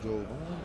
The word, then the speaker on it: Jovan: Peter, the O in Jovan is pronounced with like an A.